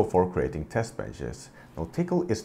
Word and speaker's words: Tcl: talk to you about tickle based test benches tickle or TCL as it's spelled but it's pronounced tickle is a scripting language